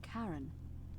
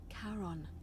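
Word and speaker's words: Charon: it's just as you described it only your pronunciation is a little off the name you heard wasn't Karen it was c h a r o n as in karon the Fairman of the Dead karon who in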